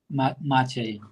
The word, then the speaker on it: Maciej: Yeah, Hi, how it's do I pronounce Maciej. Maciej.